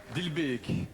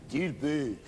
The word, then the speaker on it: Dilbeek: Comment prononce-t-on, pour pas que je dise bêtises? Dilbeek? Dilbeek, Dilbeek.